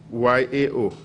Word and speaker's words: Yao: How do you spell that? B-O-A-K-Y-E. Boake. Okay. 7. We have Yauchre. Y-A-O.